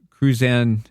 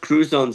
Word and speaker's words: Crouzon: Ben, uh, you have Krzanne syndrome. Can you explain what that means? Yeah. Uh, it's pronounced cruzone syndrome and what it is is a facial difference.